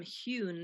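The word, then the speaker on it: Heughan: nurse um and she's playing opposite uh sam hewn is that how you pronounce that name yeah playing jamie your your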